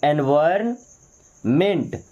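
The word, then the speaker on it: environment: agriculture okay then एनवायरन एनवायरमेंट एनवायरमेंट यहां पे N silent होगा एनवायरमेंट क्या पढ़ेंगे एनवायरमेंट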